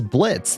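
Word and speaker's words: Blitzø: But as you guys can see, I am dressing up today for Halloween as Blitz. The O is silent.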